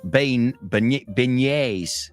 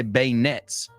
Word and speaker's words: beignets: And you can have yourself some beignets. See, I say bayonets.